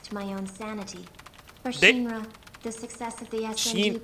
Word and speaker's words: Shinra: For Shinra, the success of the SMG project was crucial for their next step in she said Shinra, which is I feel like probably closer to the Japanese pronunciation.